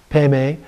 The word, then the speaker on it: Padma: mantra is vajra guru padma city home it is pronounced guru pema city by tibetan so slight difference there the the vadra is bendra and the padma is pemei and so some little